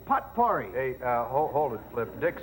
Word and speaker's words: potpourri: Well, in the first place, it's not potpourri. It isn't pronounced potpourri? No, it's not potpourri. It's potpourri. Well, the heck with it.